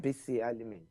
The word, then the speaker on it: Bisi Alimi: It's Bisi Alimi. Is that how I'd pronounce it? Yes, I got it it's right? Bisi Alimi.